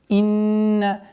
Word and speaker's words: إِنَّ: В первую очередь обращайте внимание на четкое произношение кясры под буквой хамза. Инна.